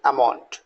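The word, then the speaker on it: almond: एम ओ एन D generally आप एलम बोलते हैं this is not true pronunciation सही pronunciation that is अमाउंट right T एल के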